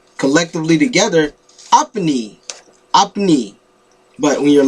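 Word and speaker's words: আপনি: spell it but now this is pronounced it's like two syllables two sounds up knee so i put this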